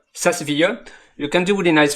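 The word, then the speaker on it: SAS Viya: It's not SaaS, it's not software as a service, it's the software SaaS, SaaS, SaaS, and then VIA, SaaS VIA.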